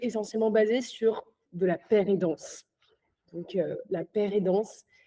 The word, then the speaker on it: pair-aidance: Donc, tout est essentiellement basé sur de la paire-et-danse. Donc, la paire-et-danse, ça s'écrit P-A-I-R et pas P-E-2-R, P-E-R-E. Enfin, c'est pas l'aide d'un père.